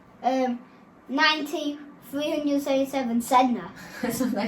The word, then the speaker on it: Sedna: It's called a 9337 Sedna.